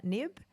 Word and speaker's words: Knibbe: It's the way we say it is knibbe, but if you say nib or nibble or whatever you want, it's fine. I'm fine with that.